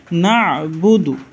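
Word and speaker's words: نَعْبُدُ: এখানে আছে না'বুদু, আইন উচ্চারণ হবে না'বুদু, ওয়া ইয়্যাকা নাস্তাঈন, এখানে একটা আইন আছে, তাহলে এটা হচ্ছে মধ্যে আরজি, কানাস্তাঈন, ইয়্যাকা না'বুদু ওয়া ইয়্যাকা নাস্তাঈন।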